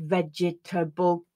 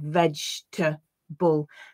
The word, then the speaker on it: vegetable: was number seven vegetable a lot of my students will read that as a four-syllable word vegetable but in fact most of the time it's reduced to a three-syllable word vegeta bull comfortable is another one